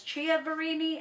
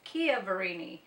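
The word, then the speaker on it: Chiaverini: up because I know everybody says Chia varini and it's Kia varini according to what I found online because I don't want any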